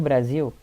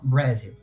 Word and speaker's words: Brasil: O Brasil, a única coisa que muda é colocar o Z no lugar do S na palavra e a pronúncia, que a gente fala Brasil.